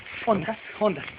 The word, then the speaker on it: honda: ¿Es onda o honda? Honda. Se pronuncia honda, es la palabra corrupta.